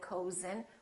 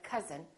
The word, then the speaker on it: cousin: like cousin my cousin we don't say my cozen we see my cousin or country and once